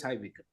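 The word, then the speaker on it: High Wycombe: Okay, it's high Wickham. You heard it and you could pronounce it.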